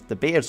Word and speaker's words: De Beers: these diamonds were actually mined by the famous the bears company and yes that's how it's pronounced because they it was set up by dutch brothers rather than de beer in any case they were extracting the diamonds